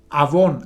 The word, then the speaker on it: avón: en en hebreo es la palabra avón así como una marca de productos cosméticos eh tal cual eh